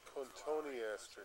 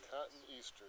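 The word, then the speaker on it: Cotoneaster: It has just a little tiny, insignificant cotone aster. Yeah, cotton easter. That's the way it's spelled.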